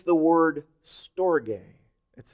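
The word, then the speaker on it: στοργή: word to describe family affection it's the word store gay that's how it's pronounced in the Greek but that's where we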